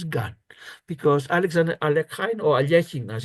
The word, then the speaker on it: Alekhine: Have what's called the battery or the Alekhine's gun, because Alexander Alekhine, or Alechin as it's pronounced, invented the idea of placing, or at